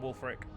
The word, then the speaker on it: Wulfric: satisfaction of peace out Wulfric Wulfric you can I'm pretty sure it's pronounced old Frick but I'm gonna keep calling bull for it cuz it sounds cooler you can keep going at